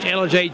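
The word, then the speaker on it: Ellijay: town with 300 population East LJ that's spelled e l l i j a y East LJ Georgia and I've been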